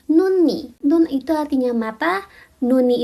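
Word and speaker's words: 눈이: Kalau ketemu sama vokal dia dibaca huruf aslinya yaitu N juga. Contohnya itu ada nun ni.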